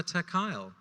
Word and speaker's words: Amichai: I'm Amichai. Amichai had maybe 5 goes to pronounce my name. None of them were correct. Okay, say that again slowly. I say it rhymes with smile. Amichai.